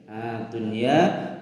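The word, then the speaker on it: الدُّنْيَا: Dunya pada surah Al-Baqarah ayat 201. Jelas bacanya nun sukun bertemu ya dalam satu kalimat.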